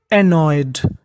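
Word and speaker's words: annoyed: यानी प्रिया ने कहा कोई बात नहीं बट लेकिन सी वह वाज वाज वह थी एनॉयड एनॉयड देखिए एन दो बार है उच्चारण एक बार करना है और आखिरी में है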